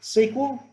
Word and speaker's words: SQL: me here we go SQL normally pronounced sequel which is a bit odd so relational algebra is